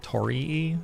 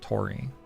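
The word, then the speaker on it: Torii: I found out that it's called Tori, not Tori. I've been saying it wrong for eight years.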